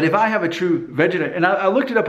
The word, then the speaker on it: Vegeta: But I guess it's pronounced Vegeta, and most of you are of the right age group to know all about Dragon Ball Z, and to know that the Vegeta hairline, if I'm pronouncing that right, Vegeta, is